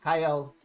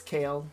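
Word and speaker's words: Kael: going to be Kale, not Kyle. I don't care what the guy who gets paid thousands of dollars to narrate and talk about the what's next in Raid. It's Kale. That's how the community pronounces it.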